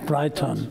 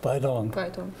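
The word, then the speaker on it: Breyton: Breiton. Ja. Spricht sich das richtig so aus? Korrekt, ist eigentlich Französisch, nicht? Ist eigentlich Französisch, Breiton, aber mein Vater hat schon eingedeutscht. Breiton.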